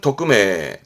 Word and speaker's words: 匿名: 발음은 토크메, 토크메.